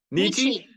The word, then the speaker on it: Nietzsche: How do you pronounce that? Nietzsche.